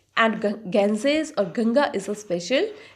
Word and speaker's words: Ganges: Now see the pronunciation of this word, Ganges. What is this word? Ganges.